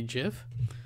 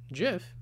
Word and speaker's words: GIF: out and tell them that the way I pronounce GIF is what the Creator calls it gif and not GIF you know so who's right